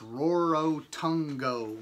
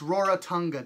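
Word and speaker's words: Rarotonga: kind of name is RORO Tongo my dad asked his pronunciation of the island was terrible but he emphasized it just to see me smile its roar Otunga dad I said with a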